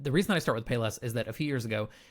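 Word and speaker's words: Palessi: Now, their secondary store was called Paylessi, so it's spelled P-A-L-E-S-S-I, so it kind of looks a little bit different.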